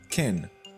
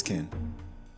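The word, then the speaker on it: כֵּן: What we finally get is the word ken, like this ken.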